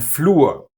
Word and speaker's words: Flur: So, it is reden, hören, and brauchen, but Wasser, sehr, and Flur. No r here.